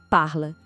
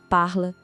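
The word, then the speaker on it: parlent: A pronúncia é parla. De novo, parla. O som para na letra L.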